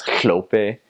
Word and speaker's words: hlope: And another syllable is it's HL, so it's hlope. So you're like, I'm hlope, and it sounds like you got a lot of spit, you know, in the side of your mouth, and it's just it's funny.